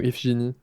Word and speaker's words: Iphigénie: C'est Iphigène, son nom. Techniquement, la prononciation exacte est contestée. Selon les sources, c'est Iphigène ou Iphigénie.